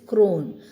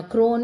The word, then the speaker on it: crone: If E is at the end, usually in English we don't pronounce it.